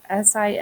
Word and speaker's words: similes: our similes okay similes and it doesn't sound the way it's spelled s-i-m-i-l-e-s similes are um phrases